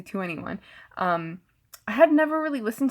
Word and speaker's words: 2NE1: Belle also performed before EXO during the closing ceremony, and she's from 2NE1, which I've also heard pronounced as 21, but it's 2NE1, so I say 2NE1.